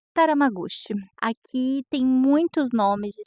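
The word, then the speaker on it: Tatamagouche: é nós somos PR taram magus é assim que se pronuncia eu falei errado no vídeo não é tatam magus é taram magus aqui tem muitos nomes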